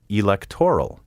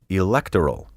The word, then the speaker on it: electoral: currency in recent years i have heard numerous broadcasters say mayoral and electoral to the best of